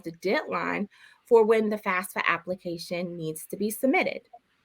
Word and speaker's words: FAFSA: FAFSA.